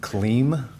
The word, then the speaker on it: Kliem: Could you please state your name and spell it for the record? Sure. It's von Clem and last name is K L I E M.